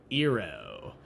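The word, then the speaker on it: eero: I went ahead and purchased this product called ero um it's spelled e e r o is there a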